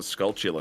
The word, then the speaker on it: Skulltula: Skulltula.